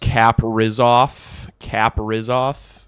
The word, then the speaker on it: Kaprizov: It's pronounced Kaprizov.